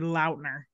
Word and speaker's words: Lautner: I saw a TikTok the other day that Taylor Lautner said it's supposed to be Lautner.